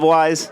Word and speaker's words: Weis: You love Weis?